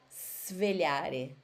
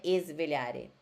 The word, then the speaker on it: svegliare: O S, quando tiver um S mudo, assim, S, depois consoante, vocês têm que falar com som de cobrinha, ó. Svegliare, tá bom? Não é esvegliare, é svegliare, com som de cobrinha.